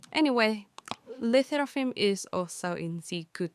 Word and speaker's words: LE SSERAFIM: Initially, I find hard to pronounce because I thought it's supposed to be French like Les Seraphim. But now hearing it saying Les Seraphim regularly is kind of cute and unique.